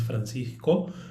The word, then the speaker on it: Francisco: am my name is i will pronounce it in spanish my name is francisco uh even though you